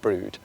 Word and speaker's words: Brewood: spend half a day at brood which is spelled b r e w o d and we've got a